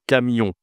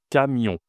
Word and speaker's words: camion: En fait, tu as ici le on c'est une nasale.